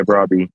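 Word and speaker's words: Brobbey: Broy. Yeah, Brabby.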